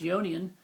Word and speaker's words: Ionian: Your first mode, the Ionian, it's pronounced Ionian, all right, would be the C major.